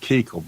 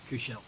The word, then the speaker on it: Kuchel: There was a senator from California several years ago who spelled his name the same as you, and he pronounced it Keekle, but you pronounce your name Kuchel? Kushel.